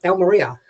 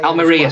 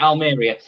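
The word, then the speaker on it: Almería: And you and you got to pronounce it right. Elm Maria as they say. Almaria. Sorry. Was I call it Alriia?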